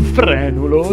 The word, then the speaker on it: frenulo: la tua R un frenulo si pronuncia con la e aperta così come molte altre